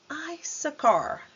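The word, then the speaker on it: Issachar: temos I Car então primeiro I aqui o som de i Isa e o ch com som de c Ice a car i a car depois nós temos zulen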